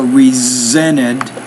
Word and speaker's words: resented: King resented religious emotionalism, so it's a Z. When the S is in the middle of the word between vowel sounds, and many times we pronounce that as a Z, so resented.